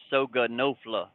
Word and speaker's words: Soga Nofla: It is pronounced Soga Nofla. It's a couple of letters from each word, South Georgia and North Florida.